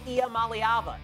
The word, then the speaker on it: Iamaleava: It's Tennessee QB Nico Iamaleava.